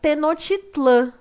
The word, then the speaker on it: Tenochtitlan: a capital dessa cidade ela é chamada de tenochtitlan mas nós também achamos a pronúncia tenochtitlán tá pessoal o importante